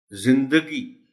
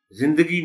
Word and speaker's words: زندگی: پر بولا جاتا ہے۔ زندگی، زندگی نہیں، زندگی، دال پر زبر کو نمایاں کر کے پڑھا جانا چاہیے۔ اہم، اس لفظ کا